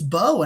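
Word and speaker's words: Mbow: I just heard a bunch of people say it's Bo, and who I think might be a center, might be his best spot. But Yeah. like, yeah, for some reason, apparently the M is silent.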